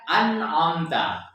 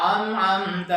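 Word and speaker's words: أنعمت: Ya, ketika membaca ayat surah Al-Fatihah, misalkan Siratal ladzina an'amta alaihim, harusnya kan an'amta, tapi banyak juga yang membacanya Siratal ladzina an'amta alaihim, am. Jadi ini harus kita bedakan mana yang hamzah dan mana yang huruf ain, ya.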